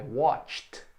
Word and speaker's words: watched: Eu assisti, I watched. Não pronuncio o E.